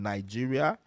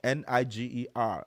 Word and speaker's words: Niger: And then we have the House tribe that's found in Nigeria and parts of Nijer Republic. So Nijer is spelled N I G E R.